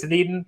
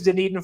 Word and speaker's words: Dunedin: So if you're from Florida, if you've been to spring training, let me know how that's pronounced. I think it's Dunedin.